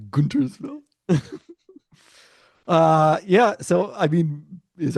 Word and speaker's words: Guntersville: Let's write the script for the movie that isn't popular enough for Guntersville, Alabama. I mean, it's popular enough. Just the weather does not work for it. All right, fine. Guntersville, not Guntersville.